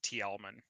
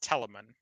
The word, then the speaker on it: Telamon: always said that wrong, by the way. I always like mispronounced it Tielman. Yeah. Uh, Yeah. No, yeah, no. it's Telamon.